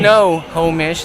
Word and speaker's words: Snohomish: 16 in, 8 out, 30 Got a in, Snohomish. 17 out, 76 in, And Sterling was teaching me how to pronounce 15 Snohomish. out, Okay. You know, 38, the 38 non-locals say in. Snohomish, and then the locals, since it's an Indian